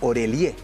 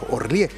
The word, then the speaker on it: Orélie: Mira, primero quería mencionar que muchas personas le dicen Orelié. ¿Ya? Mira, yo decía, ¿por qué le dicen Orelié si es Orlié?